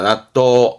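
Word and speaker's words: 納豆: 묶혀 뒀다가 먹는게 낫또가 되는 거죠 그게 한점입니다 낫또 낫또 그렇죠 이게 납득 있니다 납득하다 발음은 도그 도그 그래서 발음은 낫또 그리고 낫또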